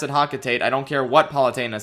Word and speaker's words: Hocotate: out that his company, Hocotate Freight, yes, I pronounce it Hocotate, I don't care what Polatina says. Hocotate?